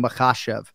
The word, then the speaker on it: Makhachev: want to say there's so many people in the MMA space that can't pronounce Islam makashev and here you are Joe fortenball just absolutely nailing makashev pointing out to the producers or whoever it is you got it right perfect syllabic emphasis there but yes I do